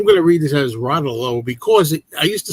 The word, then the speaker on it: Rotolo: Anyway, by the way, I'm going to read this as Rotolo because I used to say Routollo and then I heard my whole life I was saying Susie Routollo and it turns out they don't it's pronounced Ralo.